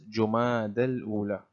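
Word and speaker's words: Jumada al-Ula: The fifth Islamic month is called Jumad al Ula. The fifth Islamic month is called Jumad al Ula. And this is the correct pronunciation, which is Jumad al Ula.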